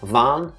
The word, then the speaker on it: Vaan: Vaan, V-A-A-N, Vaan.